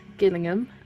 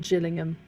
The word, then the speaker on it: Gillingham: I like um there is two places spelled the exact same, Gillingham and Gillingham, but one's with a hard G, one's with a soft G.